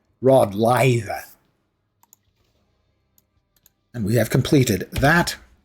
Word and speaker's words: Rod Laver: And to pronounce his name correctly in Australian, you would say Rod Laver.